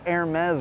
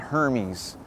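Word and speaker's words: Hermès: And it's pronounced Hermes, by the way, okay? They make like fancy accessories like luxury scarves and ties. Hermes, okay? Not Hermes.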